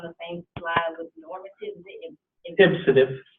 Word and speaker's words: ipsative: Ipsative. Ipsative.